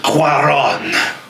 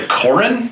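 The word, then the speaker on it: Cuarón: all those good stuff and directed by Alfonso Cuaron you have to say it with the ridiculously over-the-top bags I can't pronounce it correctly otherwise it's like Corrin no happy gilmore miss directed by Dennis Dugan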